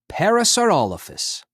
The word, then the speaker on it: parasaurolophus: clay dinophile name parasaurolophus how to say it parasaurolophus when it lived late cretaceous period mesozoic era